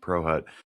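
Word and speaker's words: Prochut: But it's pronounced ProHut.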